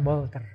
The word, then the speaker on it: Walter: temannya namanya Wolter Wolter namanya tulisannya Walter membacanya Wolter nah bersama Wolter ya